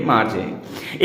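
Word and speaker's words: Margie: मार्जी आर silent कर देंगे तो मागी हो जाएगा, पर हम हिंदी भाषी लोगों के लिए मार्जी।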